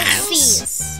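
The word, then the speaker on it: Alphys: Alpheus!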